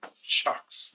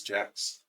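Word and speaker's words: Jacques: always pronounce it shocks, but apparently it's Jack's English guy.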